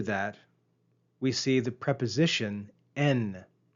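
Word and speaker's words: ἐν: And right after that, we see the preposition en. Compare the verb ain and the preposition en. Notice the long eta, ain, on the verb and the short epsilon, en, on the preposition.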